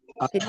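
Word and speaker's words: أشهد: বেশি করা যাবে না এরপরে দেখেন আশহাদু এই যে এটা কি আশহাদু এই যে অনেকে একটা ভুল করে আশহাদু আমি একটু বলি এখানে কি ভুল করে আশাহাদু আশহাদু এরকম বলে অনেকে গ্রাম অঞ্চলে আশহাদু কিন্তু আশহাদু আশহাদু আশহাদু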